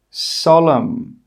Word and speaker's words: solemn: The letter N is normally not pronounced when it's after the letter M at the end of a word. Some example words are column, autumn, solemn, condemn, hymn. In all of these words, we are not pronouncing the N.